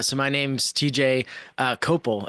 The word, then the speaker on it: Cople: my name's TJ uh copal is how you say it but CLE everybody says CPP or cop or something like that uh and I